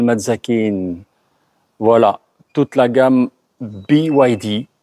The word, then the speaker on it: BYD: Voilà, toute la gamme BYD, BID pour ceux qui ne savent pas le prononcer, qui a été introduite ce matin au Maroc.